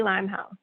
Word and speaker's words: Limehouse: would be offended, and many people have pronounced it incorrectly, like it's, you know, got accent marks and all types of squiggly lines attached to it, but it's literally Limehouse, and I would be